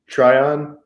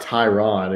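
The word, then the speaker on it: Tryon: his name um Joe Trion Joe Tyron sure from Washington but it's not Tyron it's it's t r yo n yeah out of Washington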